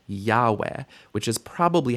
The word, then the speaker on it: Yahweh: all the different possibilities, but the correct readings of this word would be Yahweh or Adonai. Yehovah is not a correct reading. It's a misunderstanding of the pointing of the text.